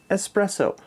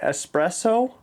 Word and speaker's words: espresso: There's no X in espresso. It's ES. Thank you. Say it espresso.